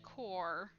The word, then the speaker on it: Kor: um so uh you would call me a core uh kor if you wanna keep track of how to spell that and uh hooks are kind of our